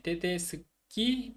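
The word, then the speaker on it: tedeschi: 그다음에 테데스키, 테데스케. 원래 그 테데스코 CO로 끝나는데 OE잖아요. 복수로 바꿀 때. 근데 CI로 바뀌면은 치 발음이 되기 때문에 테데스키라고 그랬잖아요.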